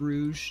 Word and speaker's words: Rouge: yeah so anyways uh Rouge the Bat not pronounced Rogue finally got to the